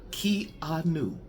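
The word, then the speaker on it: Keanu: And one of the people that watched the video told me said, "I am saying Kenu's name wrong. It should be key a new K E A K E K E Y- Ah."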